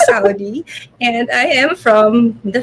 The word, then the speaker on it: Saudi: That's really my last name. It's pronounced as Saudi, and I am from the Philippines.